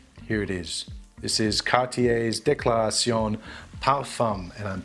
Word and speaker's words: Cartier: declaration it's not declaration it's cartier it's not car tire wait car tire never